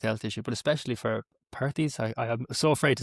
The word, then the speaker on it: Perthes: I say Perths. A lot of people say Perths.